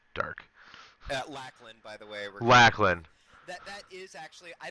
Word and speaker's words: Lachlan: see in the dark Lain by the way lacklin that that is actually I don't know where I got the alternate pronunciation from last week that's what I meant